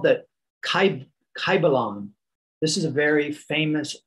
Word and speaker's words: Kybalion: It is called the Kybalion. This is a very famous ancient book, and it's spelled K-Y-B-A-L-I-O-N.